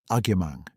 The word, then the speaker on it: Agyemang: She said, Agyemang. She gave it the full 4 syllables, the weight on the second, the way her